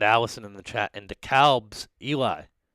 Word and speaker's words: DeKalb: chat and dekalb's eli although i think it's decab uh is how you pronounce it but me being a midwesterner even though i've lived in atlanta for six years i still pronounce it dekalb uh because i think there's a dekalb illinois but anyways i'm just